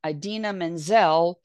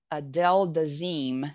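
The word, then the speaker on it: Idina Menzel: by um John travala when instead of saying Aden Manzel he said Adel deim you know and he became a meme it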